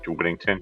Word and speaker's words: Whittington: Yeah, Whittington.